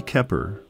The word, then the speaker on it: Keppard: Freddie Keppard, the D is silent due to his French heritage, was the best trumpet player from New Orleans.